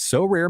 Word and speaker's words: Sorare: win a variety of rewards, which can include So Rare scarcity cards, game tickets, merchandise, signed jerseys, and VIP experiences like meeting MLB stars.